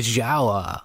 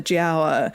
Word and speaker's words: Giaour: His story is called The Giaour, which is a great pronunciation. I think it's from Ottoman Turkish, is it?